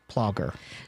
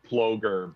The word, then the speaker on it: Plogger: It's actually pronounced Ploger, but I always tell people, don't worry, I've been called worse.